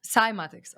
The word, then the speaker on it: cymatics: said about uh semantics this is how you say it yeah scimatics cymatics okay it's spelled c-c-y-m-a-t-i-c-s yes